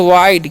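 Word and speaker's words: wide: ही होता है okay last वाला ई का उच्चारण नहीं होता इसीलिए वाइट पढ़ते हैं विडे नहीं ठीक है तो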